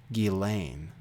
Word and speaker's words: Ghislaine: about Ghislaine Maxwell actually sorry we believe it's pronounced d'Alene here she is anyway